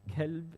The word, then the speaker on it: kalb: And if you change the qaf into kaf, you're changing the whole meaning. Kalb is dog. So two different meanings just by mispronouncing the qaf and the kaf, yeah?